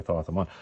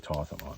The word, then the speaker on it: Thoth-Amon: I'm pretty sure it's actually Thoth-Amon, but anyways, I'm going to say Thoth-Amon because that's the way it's spelled, and we're just going to go with that.